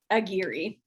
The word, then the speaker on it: Aguirre: So Aguirre is, I always used to say it's like the gear in a car. Aguirre, Aguirre. And thank you for having me. Aguirre.